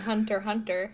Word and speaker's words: Hunter x Hunter: You don't pronounce the X in Hunter x Hunter. I know that much.